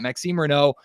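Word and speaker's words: Maxime Raynaud: his very French name, Maxim Reno, I think is how you say it. I've been adding the D to it. The D is silent.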